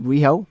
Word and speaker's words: Riho: selena dean going against riho was it riho pronounced that correctly rio yeah and uh serena deeb